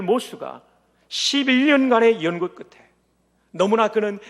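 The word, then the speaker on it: Morse: 세뮤얼 모르스 부호를 만든, 우리말로는 모르스라고 발음하는 세뮤얼 모스가 11년간의 연구 끝에 너무나 그는 이 연구에 몰두하다가 병약한 아내가 숨지는 데 도와주지 못했어요.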